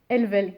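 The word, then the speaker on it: helvelle: donc en français c'est helvel on prononce pas les h en français elvel crépu WLY chanterel je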